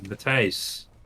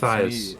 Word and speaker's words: Matthijs: It's me, Matthijs. Because you can't say my name. It's Matthias.